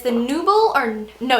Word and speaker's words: Nubile: And it's the Nubble, or no, it's Nubble actually. Funny story, I actually bought this at the MAC counter thinking it was Nubile because it's spelled N-U-B-I-L-E, so I thought it was like nubile, I don't know, like sundial, nubile, I don't know.